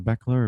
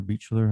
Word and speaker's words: Beechler: This we have here is a Beckler or Beechler, however you want to pronounce it.